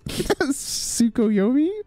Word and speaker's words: Tsukuyomi: Do you pronounce the T here? Tsukuyomi? Hey, it's pretty good.